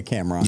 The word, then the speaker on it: Cam'ron: Cameron. Yeah, Cameron.